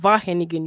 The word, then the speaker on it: Wageningen: It's called Wageningen University. The W is silent. It's a V.